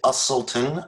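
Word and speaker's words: Uselton: hi thank you my name is usulton i'll spell that last name for you u-s-e-l-t-o-n i have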